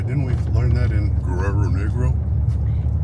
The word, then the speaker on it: Guerrero: But it's a really heavy R, so Spanish R's. You got to roll your R's.